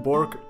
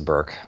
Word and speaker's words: Bourke: Bork if I am NOT butchering the name hi